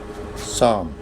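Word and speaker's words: psalm: Next rule है जी rule number eight if इन the beginning of word अगर किसी word के शुरू में पी एस आ जाए तो उसमें पी साइलेंट होगा। जैसे साम एस एल साम साइकोलॉजी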